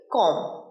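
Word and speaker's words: comb: নেব পরের বাক্যটা পরের শব্দ চিরুনির ইংরেজি কি কম সিও এমবি একটা গোল্ডেন প্রোনাউন্সিয়েশন রুল বলি তোমাদের যখন কোন ইংরেজি শব্দে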